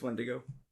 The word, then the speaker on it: Wendigo: Like, I called it Wendigo for like a year, and I was like, oh, I just added that extra N out of nowhere. But it's Wendigo.